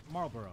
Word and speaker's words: Marlboro: backslash Valley folk to support Elliott Morgan its Marlboro right you know when somebody like argues to their teeth about something be pronounced who told me she's like it's marble oh and I was like no that's no